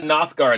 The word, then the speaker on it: Nothgard: it out anyway let's talk about nothgard am I pronouncing that correctly by the way yeah absolutely perfect um what are you